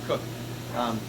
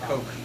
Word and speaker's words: Koch: Sam Koch is Sam Cook. Other people pronounce it Coke.